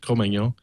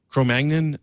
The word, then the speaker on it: Cro-Magnon: I pronounce it as the French, Cro-Magnon.